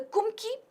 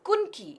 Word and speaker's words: Kumki: The first statement says the Kumki, it is also referred to as Kunki. In fact, there is another pronunciation for it. The term itself has been borrowed from Malayali language. It can also be Kumki, okay, with a double O.